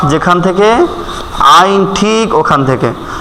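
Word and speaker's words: عين: হবে আ যেখান থেকে আইন ঠিক ওখান থেকে আইন আইন আমাদের কণ্ঠনালীর ঠিক মধ্যখান থেকে উচ্চারণ হবে আইন আইন যদি আপনার এই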